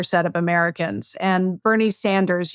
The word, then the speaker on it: Sanders: And Bernie Sanders, you say Saunders, which I'm sure he'd enjoy that pronunciation.